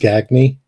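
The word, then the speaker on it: Gagné: basically for years, my family always used Gagne because nobody could ever get the French pronunciation. Um, and I always kind of wanted to go to Gagne, and was afraid that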